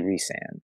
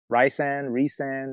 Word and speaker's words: Rhysand: I think when they told me, they showed me phonetically how to say the name, and it was phonetically Rhysand. Okay. So I never really got an opportunity to think of it in a different way, but I can see both. I can definitely see it be Rhysand.